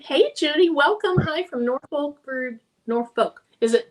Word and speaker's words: Norfolk: Do you pronounce the L? Norfolk. Kristen said Norfolk. Norfolk. Norfolk. Okay. So, you do pronounce it.